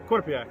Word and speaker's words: Quinnipiac: Now you went to, it's a school that I can never pronounce. Quinnipiac.